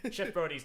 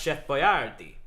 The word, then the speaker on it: Chef Boyardee: Chef Brody's delicious. And it's pronounced Chef Boyardee.